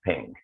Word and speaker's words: PNG: little abbreviation dot png which we typically pronounce as ping so uh pinging images